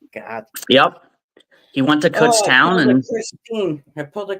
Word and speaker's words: Kutztown: Yeah, And he went to Cootstown. yep, I Kutztown.